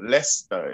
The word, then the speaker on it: Leicester: in the uk the city it's called leicester uh it's spelled with all these word letters so what what about what is the person supposed to do impossible to pronounce but i just thought i'd let you know lester is what they call it no they could just